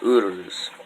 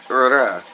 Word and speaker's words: Uruz: Now, beyond Fehu, tonight I want to talk about Uruz, or Ura. Now, that's just depends on your dialect.